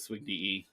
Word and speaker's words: SWGDE: People pronounce it all sorts of different ways, but I pronounce it SWGDE since I was in law enforcement.